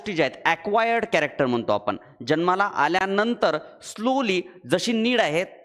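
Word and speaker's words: Jean: इव्होलुशन साठी नाव आहे John Baptist ल्यामार्क एक नॅचरलिस्ट आहेत स्पेलिंग जीन्स आहे बट त्याला रीड करतात जॉन नंतर मॉर्फोलॉजिकल चेंजेस आर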